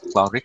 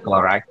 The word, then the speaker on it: chloride: And some pronunciations, sodium chloride, it's not chloric, I think it says chloric, sodium chloride, it's NaCl, sodium chloride.